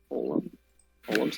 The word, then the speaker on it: Olam: How do you pronounce that? Olams? Olams? Not sure. It's Olam.